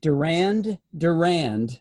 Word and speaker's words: Durand Durand: in the Murray room the second D is silent yes so this scientist